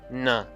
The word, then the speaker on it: nã: when used on an inflecting verb root, it's pronounced na.